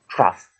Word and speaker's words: trough: with this word and the way you pronounce it is very different it's so different from its spelling it's trough a long narrow open receptacle